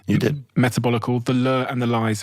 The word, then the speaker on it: Metabolical: Did I pronounce that correctly? You did. Metabolical, The Lure and the Lies of Processed Food,